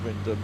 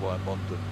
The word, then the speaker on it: Wymondham: Oh no, it is Wyndham. I just wasn't sure how much you shortened the word. It definitely wasn't Wymondon, but that's how it's spelt, isn't it?